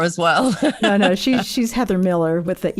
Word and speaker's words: Millar: Well, I pronounce it Miller as well, but it's a Scottish version of Miller. So it's probably supposed to be pronounced Millar, but I don't pronounce it Millar. Just that sounds like I'm being posh, I think.